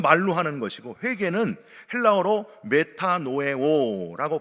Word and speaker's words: 메타노에오: 자복은 말로 하는 것이고 회개는 헬라어로 메타노에오라고 발음을 하는데 이거는요 길을 바꿀 때 쓰는 단어예요.